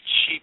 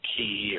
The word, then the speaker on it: chi: that is conducive to chi production, chi, C-H-I production. Some people pronounce it ki, or, I don't care. C-H-I, it looks like chi to me, so that's what it is to me.